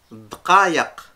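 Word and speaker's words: دقايق: Dkayak. Kayak. Dkayak. Kayak. De De kayak. kayak. Ouais. Pour les gens qui n'arrivent pas à prononcer le K, vous rappelez-vous du kayak et vous dites de kayak.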